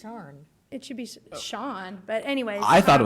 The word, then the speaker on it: Cian: He can't come to Boston with that name because it should be pronounced Sharn. It should be Sean, but anyways.